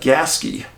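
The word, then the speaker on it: Gasquet: 12 miles Northeast of gasque that's apparent the way you pronounce it and you spell it g-a-s-q-u-e-t in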